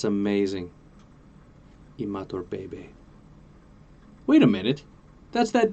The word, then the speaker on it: Imatorbhebhe: Josh Imatorbhebhe. Oh, it's Bebe. That's amazing. Imatorbhebhe.